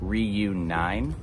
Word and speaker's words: Ryu9: So Okinawa used to be called the Ryuku Kingdoms, and our brand is Ryu9, but in Nine is Japanese, you pronounce 9 as Q.